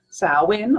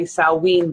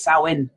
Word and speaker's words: Samhain: ma che i N and it's it's pretty pronounced like this sow in or some people say salween but I studied Gaelic for a little while